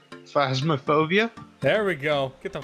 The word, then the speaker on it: Phasmophobia: Phantasmophobia? I'm up for some phasmophobia. I mean, I'll do it, but I want him to pronounce it right. Phasmophobia?